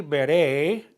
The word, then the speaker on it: veré: I will see, veré, accent on the E at the end.